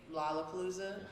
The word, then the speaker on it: Lollapalooza: They dropped him at Lollapalooza. Lollapalooza. Lollapalooza? Yeah. Is that really how Yeah, it yeah, is? That's how it's pronounced, man.